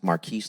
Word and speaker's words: Marqueze: It's pronounced Marquise, like car keys.